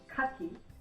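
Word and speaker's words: かき: Next one is Kaki. So again, the stress is on the first syllable, Kaki.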